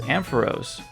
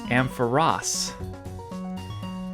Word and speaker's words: Ampharos: Another common mispronunciation is Ampharos. That's what I call it, but I guess it's Ampharos. They really should have added another S to make that more clear.